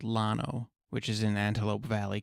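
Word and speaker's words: Llano: The unincorporated community of Lano is pronounced with an L despite its Spanish origin.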